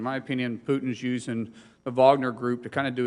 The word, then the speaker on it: Wagner: about uh you know I believe is pronounced Wagner but I believe the media pronounces Wagner group all the time I